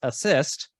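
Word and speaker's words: ACISTE: that's a mouthful and yes the acronym is pronounced assist says the following an experience is spiritually transformative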